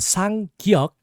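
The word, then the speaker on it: ㄲ: So the sang gyok has a hard G sound. It's like a g, almost a K sound. K, g, g. And you kind of put a little bit more emphasis on the G sound.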